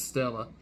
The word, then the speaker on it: Stella: read as star Stella written as main true body but pronounced as Stella which means Celestial star